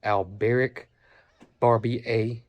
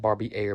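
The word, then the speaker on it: Albéric Barbier: It is called, he said it was an old garden rambling rose called Alberic Barbie A. I think that's how you say it, not Barbie Air, but Barbie A. Pretty sure that's French.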